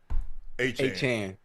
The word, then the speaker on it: Etienne: So he's correcting people. He says hopefully he says he doesn't think people will have a problem pronouncing his name because he's from that area.